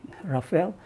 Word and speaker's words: Rafale: So ejaan ni Rafale, tapi kalau kita eja macam Rafale tapi we call it Rafale.